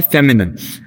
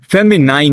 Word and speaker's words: feminine: Second हमारे पास है फेमिनिन, फेमिनाइन नहीं। ठीक है, ये फेमिनिन है।